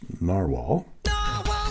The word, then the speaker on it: Nahvalur: This is Clairefontaine 90 GSM paper, and this is the Narwhal spelled Nahvalur, but pronounced Narwhal.